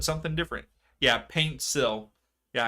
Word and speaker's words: Paintsil: said something different yeah paint sill yeah I keep saying like pantsil like p a n t not paint I I'm terrible with pronunciations but yes paint sill so out so throw